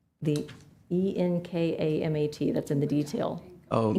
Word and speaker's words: ENKAMAT: And do you think how do you pronounce that? Enkamat? The ENKAMAT, that's in the detail.